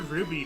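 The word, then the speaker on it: RWBY: it differently, but yeah, Ruby is how I've always pronounced it.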